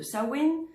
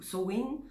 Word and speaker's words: Samhain: C'est aussi évidemment pour les sorcières, les sorciers, la fête de Samhain, ou Samhain, ça dépend comment vous le prononcez.